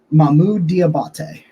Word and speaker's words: Mohamoud: linebacker out of Utah and his name is pronounced here we go we're gonna do this you ready mahmoude so Mamu diabate the linebacker from Utah started out over